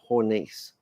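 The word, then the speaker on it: Hornisse: Hornice.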